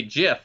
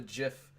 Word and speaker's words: GIF: He goes, "Sir, Tabmock99, the creator of the file format, officially stated it is supposed to be GIF, like the peanut butter."